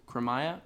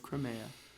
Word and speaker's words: Crimea: the monarch of Crimea I might have pronounce that wrong too kramaya uh no it's Crimea yeah yeah um the monarch of crime monarch of Crimea second to last question